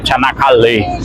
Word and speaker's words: Çanakkale: E sejam muito bem-vindos a Çanakkale. Pelo que eu entendi, a sílaba tônica é a última mesmo, seria Çanakkale.